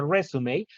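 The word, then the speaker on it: résumé: Recuerden que esta palabra se pronuncia resume, aunque es de las muy pocas palabras en inglés que tienen un acento, pues justamente porque es una palabra heredada del francés.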